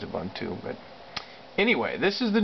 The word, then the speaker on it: Ubuntu: default drivers in Ubuntu that's an African word I think that's actually how it's pronounced but uh he says a bun too but anyway this is